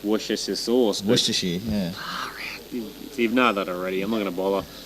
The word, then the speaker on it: Worcestershire: And the next question is, can you pronounce Worcestershire sauce?